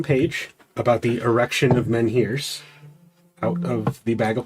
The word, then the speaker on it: menhir: I'm going to pull the blueprints I got from Paige about the erection of menhirs out of the bag of Oh, holding. erection of menhirs.